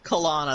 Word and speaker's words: Kalana: Well, I mean, the girl, the thing that rhymes with Moana, Kalana, that's Kalanic.